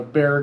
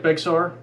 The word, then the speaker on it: Bexar: so something close to that it looks like bexar it's not it's pronounced bear but if you type it in it's going